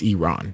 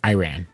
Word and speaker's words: Iran: our country name wrong it's Iran it's not Iran right and then he